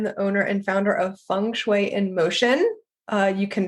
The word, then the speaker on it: feng shui: your websites uh about feng shui is it feng shui feng shui it's like f-u-n-gen feng shui okay so